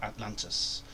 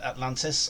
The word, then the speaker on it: Atlant: conquer the Realms of Atlantis known by all as Freeland see I've cocked it up already I've pronounced uh Atlantis and it's actually Atlant it's not Atlantis at all so I'm going